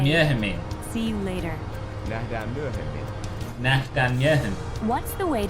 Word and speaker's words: Nähdään myöhemmin: Nähdään myöhemmin. Nähdään myöhemmin. Nähdään myöhemmin. Sounds a bit like mermaid in Dutch.